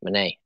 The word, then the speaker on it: Monet: marked mo monet monet monet that's how you say it it's french must be fancy bracelet here's